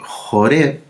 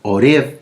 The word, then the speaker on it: Joreb: monte Sinaí o monte Joreb, u Oreb, porque en las Biblias en español sale con H-O-R-E de larga, Oreb, pero en el hebreo es Joreb, porque se escribe con la letra Yet, ¿sí?